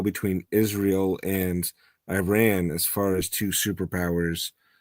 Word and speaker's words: Iran: blame you it's like all of American news media says Iran and I'm like no if you actually talk to people who've been there it's pronounced Iran real quick my apologies